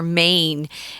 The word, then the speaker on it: mane: head is called their mane and it's m-a-n-e same pronunciation as uh maine m-a-i-n yeah they do have